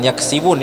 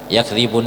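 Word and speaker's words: يكذبون: ketemu dengan ba Nah bukan yaksibun ya seringkiali orang itu membacanya yaksibun padahal itu yakbun yakzi pakai D yakzibun itu artinya dengan apa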